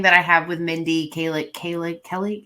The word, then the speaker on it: Kaling: I think, and part of my biggest thing, and this is a thing that I have with Mindy Kaling. How do you say her last name? Mindy Kaling.